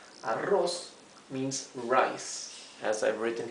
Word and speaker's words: arroz: Yo hago arroz. Arroz means rice, as I've written here in green, rice. Yo hago arroz. Remember, the double R means you pronounce it R, the hard R.